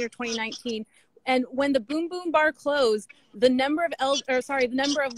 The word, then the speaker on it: Bum Bum Bar: So the Kitty Genovese residence, the Bum Bum Bar, which I have not visited. You mentioned it was one of the last. It's actually so. Yep. It's pronounced Boom Boom.